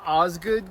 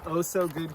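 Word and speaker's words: Osgood: It's called Ozgood Campsite, but she started pronouncing it oh so good campsite a while back and now she can't stop.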